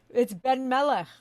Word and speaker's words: Benmeleh: No, it's Benmeleh. Benmeleh.